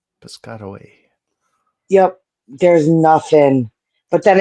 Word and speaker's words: Piscataway: I don't know how you say it, but it looks like you say it Piscataway. You got it. Piscataway.